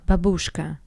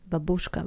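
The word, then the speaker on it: бабушка: The stress is different. Babushka, Babushka.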